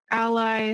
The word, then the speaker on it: a11y: of us have seen the term a11y or Ally some people like to pronounce it that way or a y it's